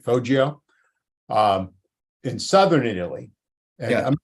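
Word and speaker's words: Foggia: here's the uh faggio i have that pronunciation right fojio um in southern italy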